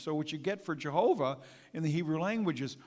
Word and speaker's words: Jehovah: That's what the name Jehovah in the Hebrew it's pronounced, Jehovah.